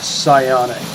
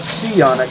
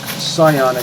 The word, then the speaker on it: psionic: Making those dissipate before they touch you actually does prevent them from affecting your psionic, not seionic, psionic health.